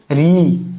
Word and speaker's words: ऋ: ही जात के है मुर्दा से ऋ का उच्चारण करके देखिए तो री री देखिए री जो जीव है ना वो आगे ये आगे जाके टच होगा ठीक है आइए अब